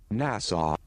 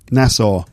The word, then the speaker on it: Nassau: okay here we go nasau Nassau I think that's the American English pronunciation anyway it's an island